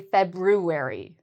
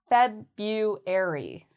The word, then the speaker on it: February: Many people make mistakes because of this R. They'll say February. But the R is silent. You do not need to say the R.